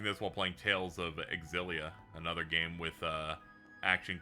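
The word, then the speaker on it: Xillia: Also, it gives me an opportunity to hammer into my head that that game is in in fact pronounced Exilia, a thing I did not know when I first played it.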